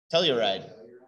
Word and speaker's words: telluride: Tellurium, which becomes telluride, like the town. I have no idea why the town of Telluride is named Telluride.